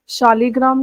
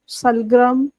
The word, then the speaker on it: शालिग्राम: सालग्राम यहाँ पे शालिग्राम को बोला जा रहा है। सालग्राम मतलब अकॉर्डिंग टू लिंग्विस्टिक वो प्रोनाउंस जो है वो अलग अलग होता है। तो यहाँ पे सलग्राम लिखा हुआ है, एक्चुअली वो शालिग्राम है।